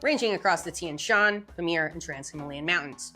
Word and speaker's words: Tian Shan: western group ranging across the Tinshen I hope I'm pronouncing these right. Tenshan Tenshan ranging across the Tian Shan Pamir and Trans Himalayan